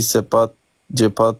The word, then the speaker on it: cepat: Gol sama org Indonesia nanti cepat bisa.